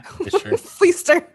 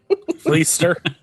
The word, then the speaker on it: Fleischer: How do you pronounce his last name? I think so. Yeah. Fleester. Fleester.